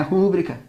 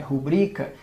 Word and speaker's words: rubrica: tá então toma cuidado não é rúbrica é rubrica tá então quando alguém pedir ali para você ah coloca tua rúbrica aqui não coloca nada porque não existe tá é rubrica e não rúbrica outra palavra que de